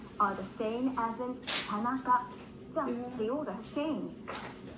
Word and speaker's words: Tanaka: Tanaka. Ta-na-ka. It's made up of 3 Like, syllables.